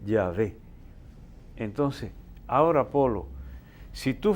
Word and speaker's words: Yahvé: Ahora, los estudiosos son casi concordes en que la pronunciación de ese tetragrama o 4 letras sería Yahvé, con una H intercalada se escribe y se pronunciaría aproximadamente Yahvé.